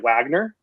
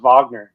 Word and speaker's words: Wagner: on to play at Wagner uh college for for a season no Seahawks the Raging cents wag I it's pronounced Vagner but yeah yeah oh